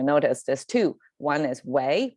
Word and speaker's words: 为: One is wei, one is wei, but it's the same character. By itself, it pronounces wei, but when it's put in a context and with other tonations, its inflection can change. So in this case, because we have a ning and it's a falling tone, so if it's